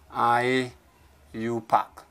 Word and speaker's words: IUPAC: international organization called IUPAC or sometimes just called I you pack IU Park does pronunciation don't say that's the abbreviation now IUPAC